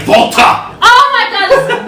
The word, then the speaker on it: WALTER: table calling him fucking Walter. His name is not Walter. His name is Volta. Volta. With a V. It's with the W, but you have to pronounce it like you're from Austria.